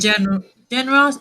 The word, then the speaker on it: genre: conventional literary forms and genres? Is it GENRES? G And N E RES. R genres? Yeah, that's how you say it, genre. I said wrong earlier, and my husband's like, it's genre, and I don't remember how you say it.